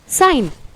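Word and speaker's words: sign: यहाँ पर जी हमारा साइलेंट होता है, इसलिए हम इसे प्रोनाउंस करते हैं साइन।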